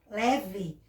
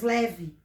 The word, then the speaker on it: leve: Pronuncia leve, porque o E está na sílaba fraca. Então, em vez de pronunciarmos e lermos conforme escrevemos, o E, leve, nós lemos leve. Nós acabamos trocando, na hora de ler, a pronúncia do E pela vogal I.